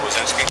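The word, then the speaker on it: Wysynski: on my uniform what's your name uh wasinski what is it wisinski how do you spell that b r e n d e n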